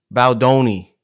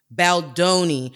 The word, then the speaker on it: Baldoni: Baldoni. Baldoni. I And believe so so. so Blake Lively is suing Baldoni for like him being inappropriate and things of that nature. Now, Baldoni came out with his receipts, and I believe